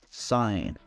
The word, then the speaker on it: sign: n at the beginning so this is not pronounced like G and sound it's like no me sign right and some interesting fact that the n